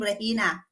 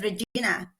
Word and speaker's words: Regina: employer was Chinese and she cannot pronounce my name rehina so but she can said Regina so I become Regina